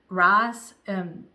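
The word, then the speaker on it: Rhys: And it's written by I don't know how to say her first name. It's Rice, R-H-Y-S Brown, and she has several other.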